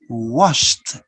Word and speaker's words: washed: you're right edie but you pronounce ta washed washed stopped stopped okay then we're